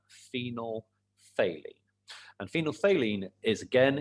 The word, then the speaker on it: phenolphthalein: amazing name for scrabble phenol phthalene is how you say that phenol phthalene and phenolphthalein is again